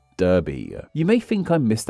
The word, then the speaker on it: Derby: As you can hear, I'm pronouncing with an A like sound as that's how the UK version is said. But the one found in the US is said how you might expect it to be said, with an E.